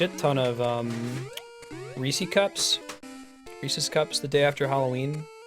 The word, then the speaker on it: Reese's: pieces of em& Rees should say Reese's cuz it rhymes with pieces Reese's Pieces Reese's Pieces